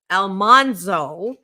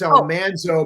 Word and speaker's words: Almanzo: seat this morning, I do have the wonderful Elmanso. And actually the correct pronunciation is Almanzo, but we said it wrong for five years.